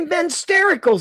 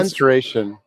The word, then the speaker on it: menstruation: He's saying it wrong. I'm not saying it wrong. It's the mensterical cycle. No. Menstruation. Menstruation.